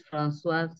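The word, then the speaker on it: Françoise: The C is always pronounced as an F. So my name is Francoise.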